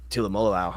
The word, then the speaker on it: Tuimoloau: Drew, JT, I don't even know how to pronounce the last name. The edge from Ohio State, is it Tuimoloau? Tuimoloau.